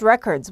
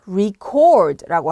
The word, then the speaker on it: record: 자, 동사로 쓰일 때는 발음을 record라고 하셔야 됩니다. 액센트는 뒤에 오는 chord에 액센트를 두셔야 되고요. 여기는 re가 아니라 re를 re로 발음하셔야 됩니다. 그래서 record. chord도 살짝 길게 빼주셔야 됩니다.